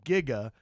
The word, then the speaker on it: giga: Apparently, up until the late 80s, the prevalent pronunciation of giga was with a soft G. Like that is giga is technically how they used to say it, according to some